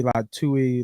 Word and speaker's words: Latu: Latte Latui Latte.